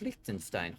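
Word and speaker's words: Liechtenstein: I have never heard of Likenstein. Holy It's small. That is tiny. Yeah. No, it's pronouncenstein because it's German.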